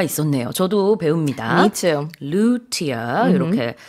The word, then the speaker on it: luthier: Yeah, luthier. Yeah. 이렇게 발음을 하는군요.